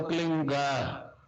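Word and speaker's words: क्लीं: है, किलोमीटर में फैलेगा, उसका होता है एक शब्द क्लीन शब्द, क्या आधा ला में मिला हुआ, बड़ी की मात्रा और बिंदी, उसका उच्चारण होगा क्लीन गा। गा की ध्वनि निकलेगी पीछे।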